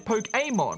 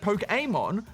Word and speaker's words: Pokémon: of you pronounced it wrong however the correct pronunciation is pokeon like fiance or the Pokémon flbe as well as this in the anime Ash pronounces it poke Amon so I think that all three of you